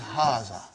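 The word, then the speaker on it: هذا: is explaining the key also so it is Haza okay haza means this and baton means a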